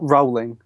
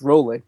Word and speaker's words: Rowling: JK Rowling uh not Rowling by the way I learned today that it's pronounced rolling so there we go JK rolling put the license up